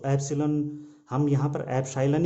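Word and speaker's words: epsilon: μ0 को चुंबकशीलता और ε0 को कहीं कहीं एप्सिलॉन भी इसका उच्चारण किया जाता है। तो एप्सिलॉन हम यहाँ पर एप्साइलन ही करेंगे, क्योंकि हिंदी माध्यम में एप्साइलन ही इसका उच्चारण किया जाता है।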